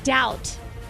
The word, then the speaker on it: doubt: all right Robert you're word is doubt B yep yeah three to two all